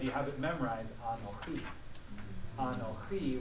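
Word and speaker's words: אָנֹכִי: Anochi with the accent at the end, but Anochi has the accent on the second syllable.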